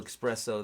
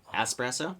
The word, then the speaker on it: espresso: see that's another one that's an expresso uh espresso espresso well that's the way that's why it's spelled right espresso yeah but people say expresso that's right they do